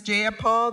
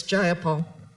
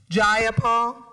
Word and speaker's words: Jayapal: you agree with miss jayapal that there was no takeover it was just jayapal if you're going to say my name please say it right it's jayapal jayapal do you would you